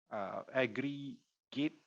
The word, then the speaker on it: Agri-G8: Aggregate, so Agri-G8 is pronounced aggregate.